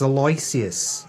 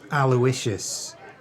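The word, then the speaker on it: Aloysius: grateful Palm to thee it's alus not aloicious give my name some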